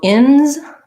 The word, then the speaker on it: ins: forgot my s okay so ins the s says z because uh it is after a voice sound outs the s says s because it's after a voiceless sound so the ins and